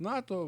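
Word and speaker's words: Nåtö: Ее, тобто, ну, читається як НАТО.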